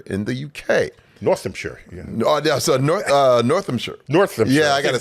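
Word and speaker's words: Northamptonshire: Northampshire.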